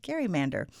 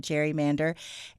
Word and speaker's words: gerrymander: And uh that comes because it was originally named after a Massachusetts governor, Elbridge Gary. And it was a combination of two terms because he had created a district kind of shaped like a salamander. And so they combined Gary, his last name, with the word salamander. And that's where we ended up with Gary Mander. But over time, we started calling it gerrymander.